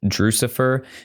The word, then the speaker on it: Drewxcifer: Guys, if you want to follow me personally on any social media, YouTube, Facebook, or Instagram, I am at Drucifer, except it is DREWXCIFER, rhymes with Lucifer.